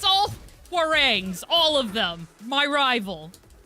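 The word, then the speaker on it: Hwoarang: I'm sorry it's all warang all of them my rival that was very close though round and I have to learn how to fight against War rang eventually that's how they pronounce it I know the least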